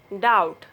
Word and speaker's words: doubt: B is not pronounced after T usually. When B comes before T, then B will be silent. You see this word, that. B will be silent. That, doubt, subtle.